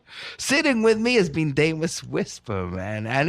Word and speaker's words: Demus: spell correctly Demus Whisper, because it sounds Demus with an A, but actually it's Demus. Yeah. Correct? Correct. Whisper, Whisper. So, pronounce Demus, I guess, phonetically.